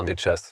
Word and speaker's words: Nécas: Donc, je m'appelle Nécas, qui se prononce normalement Netchas, mais je vais pas. Voilà, puisque c'est d'origine de l'Est, et tchèque en l'occurrence.